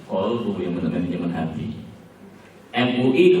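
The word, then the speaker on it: qalbu: Musuh manajemen kalbu, manajemen anjing. Kan harusnya manajemen kolbu, yang benar manajemen hati.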